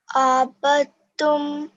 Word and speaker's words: عبدتم: Wala ana abidum ma abadtum. عبدتم. Abadtum. Yeah, you're pronouncing it not from your throat. So what you need to do is practice a lot on your ayn sound.